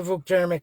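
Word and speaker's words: Vuk Jeremić: Please just answer the Vukjermic is the right way to pronounce it.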